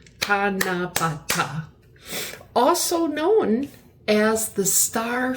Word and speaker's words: Tanabata: This Japanese holiday where people hang wishes on trees is called Tanabata. I may be mispronouncing that, but there's 4 syllables. Tanabata.